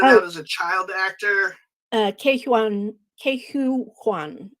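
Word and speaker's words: Ke Huy Quan: Ke-Hu Kwan, I believe it's pronounced.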